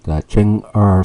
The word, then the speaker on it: Chang'e: got the news that Chen R six Chen ER this you pronounce ER in Chinese six has just inserted